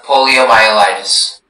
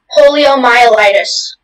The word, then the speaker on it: poliomyelitis: There is just the one, poliomyelitis. Poliomyelitis, am I saying this correctly? Can you say it again? Poliomyelitis. Yes, that sounds right.